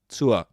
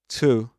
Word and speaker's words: to: Is a vowel sound, so the vowel sound schwa, to. So in this case, this is pronounced as to, not to. with a long oo, but tour.